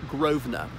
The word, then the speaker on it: Grosvenor: land it's spelt like grass Verne or but pronounced Grosvenor they came over from Normandy with rid of